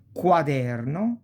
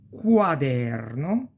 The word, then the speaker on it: quaderno: qua, qui, que, quadro, quaderno, qui, quercia, eloquenza e quello, that. E si pronuncia più o meno, we pronounce it more or less like quiver, quiver.